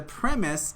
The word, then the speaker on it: premise: So premise, make sure you pronounce that word correctly. The stress is on the first part, premise, and that's a noun.